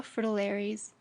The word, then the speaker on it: fritillaries: it must be pronounced with the accent on the first syllable and not the dictionaries